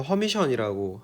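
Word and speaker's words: Hermitian: 허미시한 오퍼레이터라고 부릅니다 그리고 책에서는 이게 에르미트라고 적혀 있는데 실제 영미권에서 그냥 발음을 할 때는 허미션이라고 하는 거 같아요 그래서 우리가 앞에서 했던요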